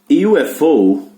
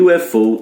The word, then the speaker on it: UFO: Na sigla o U tem som de Y, mas na palavra não. A mesma palavra com dois artigos, A e N. Incrível, né? E UFO eu uso A, Unidentified Flying Object eu uso N, porque tem som de vogal, e o outro tem som de Y, que é consoante.